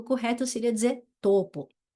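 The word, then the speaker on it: Taupō: como W mesmo tá outra coisa que me ensinaram é que a u se pronuncia o então a cidade de tupo que a gente fala né o correto seria dizer topo e tauranga seria tanga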